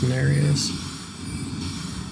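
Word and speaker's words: Nerijus: And it is Bloody Finger Narius. It looks like Narajis, but it's pronounced Narius.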